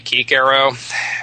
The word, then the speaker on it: Cicero: and by the way I'm pronouncing Cicero in English because otherwise it' be keero and I don't think